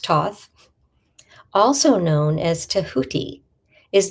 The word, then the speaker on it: Thoth: Toth pronounced Toth also known as Tahuti is the ancient Egyptian ebis headed god of writing, divine magic and the moon.